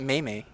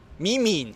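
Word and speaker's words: meme: do you say again it's not mayay MIM me internet MIM me all right so uh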